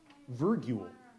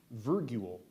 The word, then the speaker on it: virgule: from a Latin word virgule is there any other pronunciations there is not verule v i r